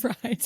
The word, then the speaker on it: Freid: I always do Freid like spelled like fried.